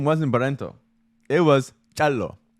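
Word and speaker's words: Calloo: name because it's spelled How is it spelled? C-A-L-L-O-O. C-A-L-L-O-O. And it's Kalu. Chalo?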